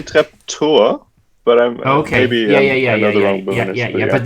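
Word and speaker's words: Treptower Park: also pronounce it as trep tower park. Yeah, I think they say trap tour but maybe another Yeah, but they but they don't do the v sound.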